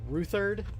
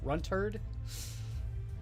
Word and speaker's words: Runt Herd: runt herd because eeyore kept on uh mispronouncing it in the game that he was playing against uh functional kept on calling it rutherd when the the model is actually a run turd so and he just